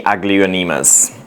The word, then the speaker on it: Aglaonema: Why you don't grow any Aglaonemas? Or Aglaonema, so however you want to pronounce it.